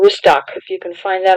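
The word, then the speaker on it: Rustaq: Took about an hour and a half, maybe 2 hours, and went to a city called Rustak, if you can find that on the map. It's, in English, is spelled R-U-S-T-A-Q.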